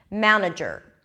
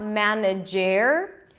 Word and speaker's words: manager: let's take another word manager manager okay it is not manage air okay I don't know if